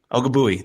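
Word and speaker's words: Ogbuehi: Ogabui.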